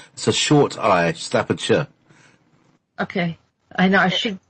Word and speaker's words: Staffordshire: you say it yes it's not shire and so it's a short so short I Staffordshire okay I know I